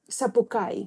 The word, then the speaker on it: Sapucai: And this is the first review that they receive from the how you say? Sapucai. That's the right way to say it.